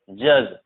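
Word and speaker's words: judge: देखो डी तब साइलेंट होता है जब जीई के जस्ट बाद हो। डी तब साइलेंट होता है जब जस्ट जी के बाद, जैसे हम पढ़ेंगे ब्रीज, बैज, जज, ठीक है, एज।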